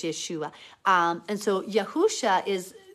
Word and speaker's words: Yeshua: the Greek subagent it proves that that it's Yeshua so the Greek subagent is an ancient writing